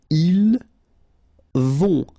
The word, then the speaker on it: ils vont: Then ils vont. Final T not pronounced, and then O and together, on vont.